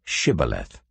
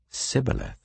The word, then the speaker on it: Shibboleth: If he replied no, they said, "All right, say Shibboleth." If he said Sibboleth, because he could not pronounce the word correctly, they seized him and killed him at the fords of the Jordan.